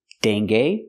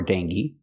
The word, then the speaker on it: dengue: So remember, GUE has 3 different pronunciations. Argue, dengue or dengue, and vague. The last one is the most common pronunciation.